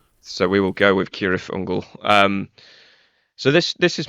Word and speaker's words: Cirith Ungol: actually said it out loud I think tolkin pronounced it kirth ungal but the band pronounced it sirth unal correct yeah it's kirle I am a huge